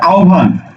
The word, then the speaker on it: আহ্বান: দেখো এখানে আহ্বান শব্দটা আছে আহ্বান দেখো তো এই যে হয় বয় যুক্ত আছে না তার আগের বর্ণ কি আছে আগের বর্ণ হলো সরে আ অর্থাৎ অ যুক্ত হলে সেটা ও হয়েছে যাবে তাহলে উচ্চারণ করো সরে ও আও ভয় আকার দন্তন্য ভান আও ভান এই যে আকার ছিল আকার দিলাম আও ভান একই ভাবে হবে আও